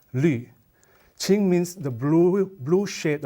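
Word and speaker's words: 绿: It's pronounced as qing, and this pronounced as lü.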